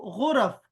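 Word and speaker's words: غرف: गो rough, rough rough, गो और rough, गुरफ।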